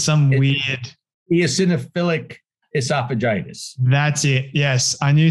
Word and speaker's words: eosinophilic esophagitis: to say what it is because i can't pronounce it it's uh esophagelitis or whatever it's called it's some weird eosinophilic esophagitis that's it yes i knew so i knew